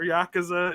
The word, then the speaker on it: Yakuza: we ever talked about the Yakuza franchise or Yakuza is the correct pronunciation I I've definitely heard of it I've